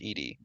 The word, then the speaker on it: ed: lesson in the beginning there was ed pronounced edie stands for editor as you might be